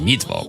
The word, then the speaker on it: Mittwoch: It's pronounced Mittwoch. Do they call her Levinson in the morning? I don't know, someone should. Just call me Levinson in the morning, baby. Mittwoch.